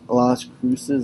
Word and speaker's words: Las Cruces: map although no New Mexico State is la las cruces I think it's how you pronounce it New Mexico is an Albuquerque over